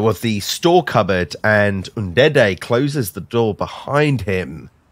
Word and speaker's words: Ndede: Can you pronounce that for me quickly? Ndede.